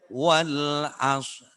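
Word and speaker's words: والعصر: Tapi roknya setelah shad, roknya tidak boleh ketinggalan. Boten parang luput. Wal asr. Tidak diperdengarkan. Roknya tetap harus diucapkan, harus tetap disenggol, tapi tidak dibunyikan.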